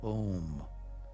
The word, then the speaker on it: Om: chanting the beautiful Sanskrit word Om, pronounced O-M, by rubbing the palms